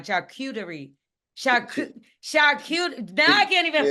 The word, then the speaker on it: charcuterie: Oh, now you got me saying it wrong. Charcuterie.